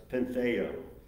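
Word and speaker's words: πενθέω: The Greek word is pronounced pentheo.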